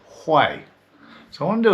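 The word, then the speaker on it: Huế: When you spell Hu Ee, you would think it's spelled Hugh, but it's actually pronounced Hay.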